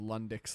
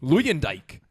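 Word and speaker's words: Luyendyk: the Lundicks love themselves. Is that not his name? Lundick. Lundick. Lundick. What's his name? Luyendijk.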